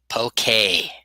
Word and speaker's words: poke: Yeah, you pronounce it wrong. And uh, pokey.